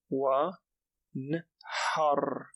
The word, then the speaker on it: وانحر: Wa nhar. Wa nhar. For those who have difficulty pronouncing ha, think of blowing on glass or practice this tip of saying ha, like almost as if you're blowing on glass.